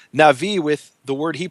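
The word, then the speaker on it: נביא: And one of the things you see here is that the Hebrew word for prophet, which everyone pronounces as Navi, everyone who knows Hebrew, rhymes with Levi.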